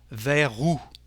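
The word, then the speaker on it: vers: towards is there but in French we don't pronounce the last letter the last consonant the S so the lion is with the letter r ver ver the same thing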